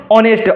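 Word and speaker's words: honest: Consonant आ रहा है, लेकिन इसको प्रोनाउंसिएशन करेंगे तो पहला लेटर शुरू होता है किससे, ऑनेस्ट, ओ से शुरू होता है।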